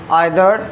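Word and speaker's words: either: आइदर हम लोग पढ़ते हैं इंडियन वर्ड में इंडियन प्रोनाउंस आइदर करेंगे, और अगर हमें अमेरिकन में प्रोनाउंस करना है तो उसे हम ईदर बोलेंगे।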